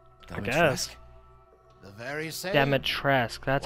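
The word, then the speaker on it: Dimitrescu: chambers would she not ask the very same demotress that's how you say it i've been saying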